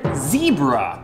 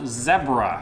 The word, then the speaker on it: zebra: right exactly okay next the word zebra or as we pronounce it now zebra ever since coming back from the uk i haven't been able to really say it the american way it sounds so harsh